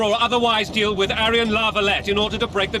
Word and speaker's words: La Valette: We must capture or otherwise deal with Aryan La Valette in order to break the defenders' morale.